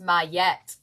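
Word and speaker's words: Maat: Ma, pronounced Mette.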